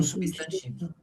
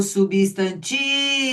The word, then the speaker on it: substantivo: Então, substantivo. Ah lá. Substantivo. Aí o tique é forte.